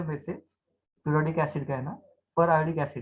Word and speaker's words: periodic acid: अच्छा, पहले तो ये कंपाउंड ड्रॉ कर लेंगे, CH2 CH2 OH OH, पीरियोडिक या फिर पर आयोडिक एसिड। इसका एक्चुअल जो प्रोनाउंसिएशन आप वैसे भी कर सकते हो, पर आयोडिक एसिड।